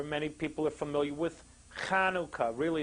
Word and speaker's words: Chanukah: people are familiar with konoka really it's not Chanukah with an H sound many people can't pronounce it because they're not used to it in English of course it's not